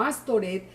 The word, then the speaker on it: Astoret: las escrituras dice que le cambiaron el nombre a astarot o astoret para que la pronunciación en hebreos se se asemejara a la palabra vergüenza y las y y